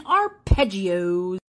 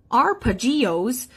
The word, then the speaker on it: arpeggios: Today we're talking arpeggios. Now, arpeggios, we do not pronounce it like that, even though it's kind of fun.